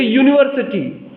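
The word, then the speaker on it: university: जैसे यूनिवर्सिटी, अब यू से शुरू होगा, यू वॉवेल है लेकिन उसका प्रोनाउंसिएशन कॉन्सोनेंट साउंड से शुरू हो रहा है, इसलिए उसके सामने हम अ लगाएंगे।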